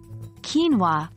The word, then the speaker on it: quinoa: Quinoa, a grain crop, is pronounced quinoa, not quinoa.